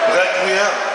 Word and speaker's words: Requiem: Three syllables, a simple French word. Requiem.